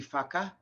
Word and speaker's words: whaka: So in the Te Reo language, in Maori language, the WH is one letter and it's pronounced F. So it's a F sound. So if you ever see WHAKA, that would be Faka.